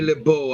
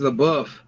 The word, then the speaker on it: LeBeau: It's not Remy LeBeau. I don't know who the hell Remy LeBeau is. It's always LaBeouf. They even spell it LaBeouf, but they calling him LeBeau.